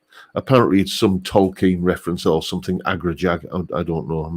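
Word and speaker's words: Agrajag: Agra Jag. I don't know. I'm not into all that Dungeons and Dragons cobblers, but it's. It's spelt as it sounds, Agra Jag, and and they look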